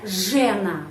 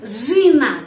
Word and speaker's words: жена: Tapi tidak dibaca жена, bukan. Harus жена. Kenapa? Karena жена penekanannya pada huruf A.